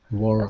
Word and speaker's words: world: Okay, so girl and world are two examples of dark L's. And so this is how you pronounce them. With the dark L, it's similar to the light L, except your tongue, the tip of your tongue, is further back in your mouth.